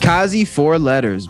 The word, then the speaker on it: Kaze4letters: And I'm glad we got the name out of the way, because I was pronouncing it the way it was spelt, not emphasizing the E.